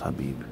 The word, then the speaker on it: Khabib: Khabib, it's pronounced Habib.